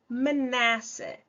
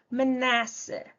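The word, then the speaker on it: Manasseh: nós temos o manassa menassa vejam que o na aqui é o mais forte ó menassa e por último nós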